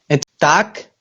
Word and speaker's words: tak: Tak, Tak. tak, inwenel, Tak. Inoenel. tak, tak, Trak. tak, Trak. T, A, K, con Ah, acento en la primera A.